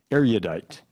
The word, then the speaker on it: erudite: Erudite. Are there any alternate pronunciations?